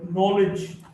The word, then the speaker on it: knowledge: K in the sequence or the cluster KN is not pronounced. No, KN or no, or knife, or knowledge.